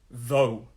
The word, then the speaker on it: though: next word though though another th but unlike the sound this is a the sound though though though so this sound the th here has got this the same as the the and it is you put your tongue here though though though though